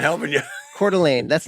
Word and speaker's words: Coeur d'Alene: Coeur d'Alene. That's not the way you should say it, by the way. No, it's very American, but it's written, for those who don't know, it's written in French.